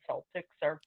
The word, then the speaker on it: Celtics: It isn't directly relevant to the class, but I actually, the one thing I know is why the Boston Celtics it's pronounced with a soft C.